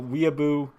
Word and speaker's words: weeaboo: Okay, so the weeaboo, aka the weeb for short, is a person who exhibits excessive xenophilia towards Japan and cultural products of Japan. Related terms include Koreaboo. So weeaboo rhymes with Koreaboo.